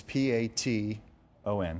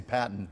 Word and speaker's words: Paton: It's P-A-T-O-N. O-N. So a lot of people say Patton.